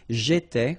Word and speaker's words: étais: J'étais, okay? Remember, here we've got accent aigu, so it goes like et, all right?